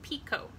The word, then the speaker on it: picot: I think it's pronounced picot I don't think that T is pronounced so that's one type